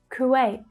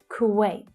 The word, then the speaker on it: Kuwait: Kuwait. That's the as in book vowel sound. Kuwait. The a vowel sound. Wait. Kuwait. Kyrgyzstan.